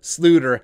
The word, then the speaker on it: Sloter: king kyle jerome ezekiel slooter that's right it's not slaughter because it is the dutch pronunciation he's back he's back